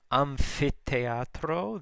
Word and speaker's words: Amphitheatro: Amphitheatro, the PH is pronounced like an F, though TH is T sound with the aspiration after it, the breath sound.